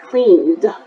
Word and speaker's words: cleaned: going to pronounce it cleaned. Not clean, but cleaned. Different from wanted, cleaned. So no id, it's the, cleaned.